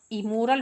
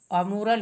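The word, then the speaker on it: amoral: इसको इमोरल भी कुछ लोग पढ़ देते हैं। लेकिन वो गलत होता है। अमोरल ही शुद्ध उच्चारण है।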